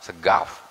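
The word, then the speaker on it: As-Saqqaf: Segaf kalau bacanya. Boleh.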